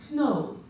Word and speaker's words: know: I knew how the word no was spelled before I knew that it wasn't actually pronounced no, because, well, there was the K, and, you know, I